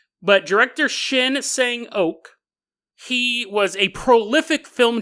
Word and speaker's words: Shin Sang-ok: In the 1960s, there was a South Korean director named Shin Sang-ok. I don't think it's pronounced okay. I don't think anyone actually has their last name okay. But director Shin Sang-ok, he was a prolific film director for South Korea.